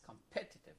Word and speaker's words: competitive: so the this uh the strongest syllable is pet participative competitive yes competitive good of course now